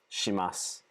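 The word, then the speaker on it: します: home suru suru right shimasu shimasu shimasu past tense notice how it's not shita shita it's almost like the eye is barely there stop shimashta shimashita that's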